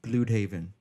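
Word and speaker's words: Blüdhaven: Okay, for one, I knew right away in the comic books in Earth X, Bloodhaven, the city of Bloodhaven is pronounced Bloodhaven.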